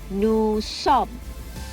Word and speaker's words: nous sommes: Remember, S at the end is silent for both nous and sommes. Again, I repeat, nous sommes.